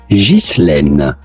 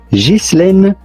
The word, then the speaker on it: Ghislaine: For purpose of this video, I'll be pronouncing it like this, okay? Ghislaine. Ghislaine is how it would be said in France. However, in English it is generally said Ghislaine.